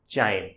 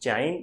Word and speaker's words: chyme: इसे हम कहते हैं चाइम, CHYME, चाइम, या कई लोग इसे काइम भी प्रोनाउंस करते हैं।